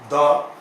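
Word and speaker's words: the: एंड द, दी, दोनों तरीके से इसका उच्चारण होता है। इसे तो एक को स्ट्रॉन्ग और एक को वीक प्रोनाउंसिएशन माना जाता है।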